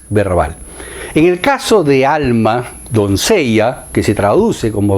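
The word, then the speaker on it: עלמה: Doncella en hebreo se escribe alma, alma, para pronunciarlo mejor.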